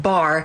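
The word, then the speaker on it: בר: Earlier, we discussed how Beit and Resh together is pronounced bar, which means son.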